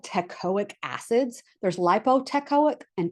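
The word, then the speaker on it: teichoic: There's lipotcoic and tecoic. It's spelled like this. T E I C H O I C. It's either tecoic or lipoteic, but they've got teaic. Okay. And I think of tectonic plates.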